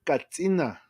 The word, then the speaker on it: Kachina: mean and the red the correct pronunciation for Kachina is Katina right so that's how